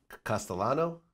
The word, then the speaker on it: Castellano: man you had a situation with a Paul Castellano yes am i pronouncing it correctly that's correct yes okay and